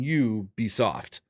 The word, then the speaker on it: Ubisoft: pronounce it you it's it's pronounced like you as in you be soft but it's it's you're